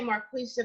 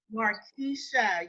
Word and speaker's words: Marisa: Mar pronounce your name I want to say Marquisha but you pronounced it different Marisa Marisha yes yes yes okay hi everyone